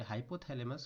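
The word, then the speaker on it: hypothalamus: इसे अगर हम सही उच्चारण करें, सही बोले तो इसे हाइपोथैलेमस कहा जाता है।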